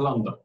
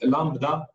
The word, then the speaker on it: lambda: كلمه انونيمس فانكشن لكن هي اسمها لامدا خلاص والناس بتنطق تقول لامدا وهي بتنطق سريعا لامدا خلاص لكن البي مش موجوده تمام وهي موجوده في